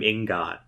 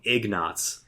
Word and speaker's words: ingot: you sell this platinum ingot i-n-g-o-t and i always pronounced it incorrectly i think you said it right i used to call them eggnots i don't know i've